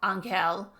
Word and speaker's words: Angel: Angel pronounced his name in the Spanish style, Ankeel. But now he shifted to the English pronunciation said, "I'm an angel